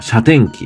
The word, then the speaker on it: 謝甜記: なかなかないですよねでこれが車機って読むんですけど天機本店